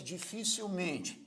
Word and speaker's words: dificilmente: Agora vamos supor que fosse dificilmente. Dificilmente é uma palavra que tem a sílaba tônica men, a sílaba forte é men, mas não recebe o acento gráfico.